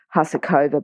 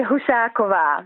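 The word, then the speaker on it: Husáková: now I know that a lot of Australians call it huh serkova but how do you say it you fade hussar Kivar which is the Czech pronunciation ok all right well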